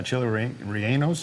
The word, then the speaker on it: chile relleno: Uh chili rienos. Yay. Is that right? Rioeno. Yes. Chili rieno.